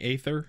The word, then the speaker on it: Aether: one that's been saying aether it's got an a in front of the e so that makes it ether to me but what